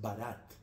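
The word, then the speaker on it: Bharat: los que vinieron aquí nuestro nombre propio es barat que se escribe con un bh se suele escribir así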